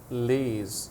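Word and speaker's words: Lie: let's go to k Le what's the correct pronunciation shtil ktil and le le le okay like Chinese Le Bruce Lee for example so shettle is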